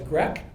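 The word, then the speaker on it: GRECC: the VA called the GRE which rhymes with the yish word for which is drek people know what Dre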